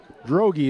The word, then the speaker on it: Drogi: foul right there on Drodge. Fouls on Hanson. Fouls on Hanson. Number 44, Samuel Drogi. Drogi is what the announcer calls it. I did not check pronunciations before.